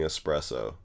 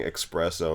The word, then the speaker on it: espresso: the old black man mispronouncing espresso yeah well there was like a less devoted voting for Bernie voting for Bernie was one of the sins that she committed against black man saying expresso instead of espresso uh you